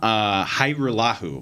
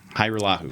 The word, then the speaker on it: Hajrullahu: It's Liram Hajrullahu. There you go. Hajrullahu. Hajrullahu. Okay, so the J is silent.